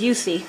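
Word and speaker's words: Jussi: His brother's Yusi, which is spelled J-U-S-S-I.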